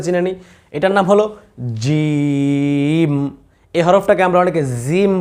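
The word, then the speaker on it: جيم: এই জিম বলার সময় জি, এই যে একটা আওয়াজ, এই বাতাসটা কিন্তু বের হবে না। বাতাস বের হলেই জিমের উচ্চারণ সুন্দর হবে না।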